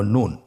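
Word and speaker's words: نون: একটি নুক্তা যদি থাকে তাহলে আমরা বুঝতে পারবো যে এটা হরফটি হল নুন। নুন হরফটি উচ্চারণের ক্ষেত্রে অবশ্যই পাতলা করে উচ্চারণ করতে হবে এবং তিন আলিফ টেনে পড়তে হবে।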